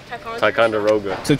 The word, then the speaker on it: Ticonderoga: how do you say that how do you pronounce it thanks jasper what no exactly these are called tac con drogia ticonderoga best pretzels out there bro they got the